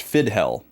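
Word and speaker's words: Fidchell: We just found out that this is pronounced Fidhel. Ignore the C.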